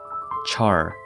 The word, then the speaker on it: char: Char, pronounced cha in British English, was common British slang